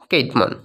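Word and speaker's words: Cædmon: way droppingly spirit old english playhead that is kate mon or sidmon someone tells but the main actual pronunciation is kate moon old english themes of poetry the old english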